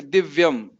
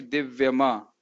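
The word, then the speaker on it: दिव्यम्: लेकिन जहां कभी जैसे दिव्यम, अगर माँ में हलंत नहीं लिखा होता तो क्या बोलते? दिव्यमा, दिव्यमा। लेकिन दिव्यम है क्योंकि इसमें हलंत लगा है, तो इस प्रकार से उच्चारण करना।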